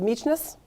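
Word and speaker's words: Mykines: This is on the island of Meechness. Absolutely not spelled like it sounds.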